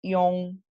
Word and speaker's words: iong: No por favor, nunca pronunciar esto, ¿verdad? Nunca, como John, no es una Y, no es una doble L, no, es una ion, primero la I y después es el on, o sea, son dos sonidos separados, la I del ion, ¿sí?